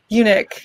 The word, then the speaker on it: eunuch: say it unit unique eunuch is how i'm used to it being said also might be different on that side of the pond okay yeah um and